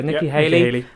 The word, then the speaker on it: Nikki Haley: Nikki uh he Haley is that how you pronounce this yeah Nikki Haley uh Larry Elder who is a uh Fox